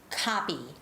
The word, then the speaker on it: copy: students from the side the difference between coffee and coffee is coffee coffee coffee but copy copy copy so the word copy when i say that word copy i open up my jaws more right copy copy or coffee